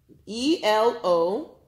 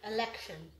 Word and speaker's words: elocution: E-L-O-C-U-T-I-O-N. Let me spell it again. E-L-O-C-U-T-I-O-N. Election. What do you see? It's election. Elocution. Oh, you're close. Yes. Elocution. But Shion. Where was Shion? T-I-O-N makes what sound? Elocution.